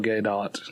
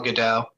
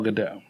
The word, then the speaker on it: Gadot: opposite Wonder Woman gal gadot I don't know how to say her name gal Godot gal Godot okay Sam thank you Ken gal gadot I died I didn't